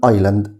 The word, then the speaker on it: island: خلي بالك برضو الاس هنا silent لا تنطق، بقول island يعني جزيرة.